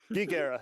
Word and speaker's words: GeekEire: Hey, we've only got it pronounced correctly. GeekEire, yeah.